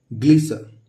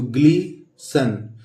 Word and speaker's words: Gleeson: और ये है ये ग और ये ग्ली, ग्लिसर, ग्लिसन, GLEESON, तो ग्लीसन। लेकिन इसको ग्लीसन नहीं पढ़ते, हम पढ़ते हैं इसको ग्लीसो। यहाँ पे N साइलेंट है तो हम क्या पढ़ेंगे, ग्लीसो।